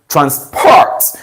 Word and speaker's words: transport: meant to be pronounced transport so you stress the second syllable therefore I conclude that